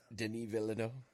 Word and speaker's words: Denis Villeneuve: Am I pronouncing that right? Denis Villeneuve.